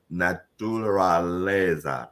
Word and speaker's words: naturaleza: You got to get used to 5-syllable words because they're not going anywhere, right?